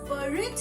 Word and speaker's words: buried: The dog has buried his bone. Buried his bone. Okay. Now the pronunciation is clear.